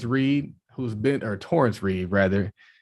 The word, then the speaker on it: Torrence: reed who's bent or torrence reeve rather do people call you terrence man people say it right to my face right after i tell them my name like point nine seconds later oh man horace